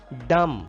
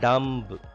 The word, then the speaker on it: dumb: Dumb. It is not dumb. Dumb. B is silent here.